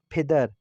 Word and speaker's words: پدر: کو بتایا ہے کہ جب بھی ہم پے کی آواز نکالتے تو فارسی زبان کے لہجے میں اس کو پھے کی آواز نکالی جاتی ہے، یعنی پدر، مادر۔ اردو زبان میں مادر